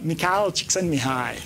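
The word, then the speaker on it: Csikszentmihalyi: me hi yes so McHale send me hi which doesn't look like how it's pronounced at all I came up with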